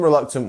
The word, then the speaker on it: reluctant: So in reluctant we have 3 syllables. Reluctant. Which one is our stressed one? It's our second one, right? We have the little dot here and the dot down here, which means the luck part is our stress syllable. So it's reluctant. Can you see that? We're almost going reluctant.